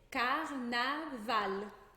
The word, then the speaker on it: carnaval: O L nunca vai ter som de U. Então, ao invés de dizer carnaval, a gente vai dizer carnaval.